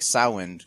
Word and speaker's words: Samhain: I'd say because the standard one is Samhain. So we'll do Samhain then? Yeah, I think Samhain. Okay. Samhain, it seems like the standard Irish pronunciation.